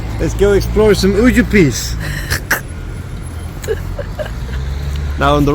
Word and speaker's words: Užupis: go explore some Užupis.